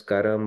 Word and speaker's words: karma: same okay it's like you can pronounce it as Karam or Karma at times uh there are categories